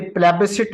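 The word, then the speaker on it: plebiscite: एंड इंपार्शियल प्लेब site इसे प्लेब सिट बोलते है लेकिन स्पेलिंग की खातिर मैं आपको प्लेब साइट लिखवा रहा हूं पी एल ई बी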